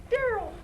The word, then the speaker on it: Daryl: I don't have my reading glasses, and I mispronounced your name. I'm sorry, Daryl. I don't know why I said Darnell because my vision is blurred.